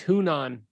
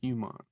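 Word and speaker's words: Hunnam: charlie majorly hunan yuman is it really humong it's hunan i want to call him humont but he does that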